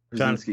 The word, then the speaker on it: Krasinski: Krasinski.